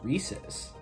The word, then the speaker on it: Reese's: friendships over this right if you say reesei you're a idiot I'll say it right here it's rees's Reese is you know I know